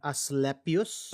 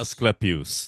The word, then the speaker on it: Asclepius: Aslepius. Asclepius.